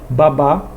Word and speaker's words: babá: a do significado até por exemplo baba não tem acento babá já tem acento observe a babá trabalha e a criança